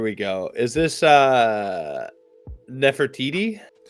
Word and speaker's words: Nefertiti: Is this uh Nefertiti? Yeah. Uh very very close. Nefertiti. So the emphasis is on the first t Nefertiti.